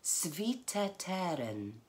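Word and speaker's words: Цвіте терен: words in front of you just for the pronunciation so the first little bit is Savita teren shall I do it say that again lovely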